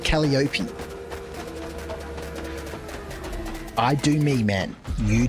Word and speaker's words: Calliope: It is pronounced Calliope, but I call it Calliope.